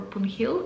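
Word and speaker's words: Poon Hill: It's also known as punil track or punhill. I don't know. Normally, as I heard the Nepalese people, they also don't pronounce the h in this name.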